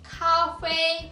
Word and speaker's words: 咖啡: 커피는 중국어로 발음이 비슷해요. 카페, 커피, 카페입니다.